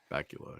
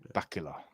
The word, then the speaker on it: Bakula: Bakula. Yeah. Wow. Scott Bakula. Bakula. Bacula. Like Count Chocula. Kind of like Dracula.